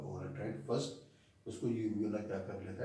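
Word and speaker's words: uvula: यूव्यूला, कोई कोई लोग इसे व्यूला भी प्रोनाउंस करते हैं, कहीं कहीं यू साइलेंट होता है, मगर मैं इसे यूव्यूला बोलता हूँ।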